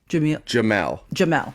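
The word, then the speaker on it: Jemele: Is it Jamila? Jamila Hill? Jamel Hill. Jamal. Is that how you say her name? Jamal.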